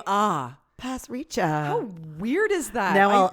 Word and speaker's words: Pasricha: he Canadian no no is it Neil parrisha no but it's pronounced Pasricha pass reach I learned that because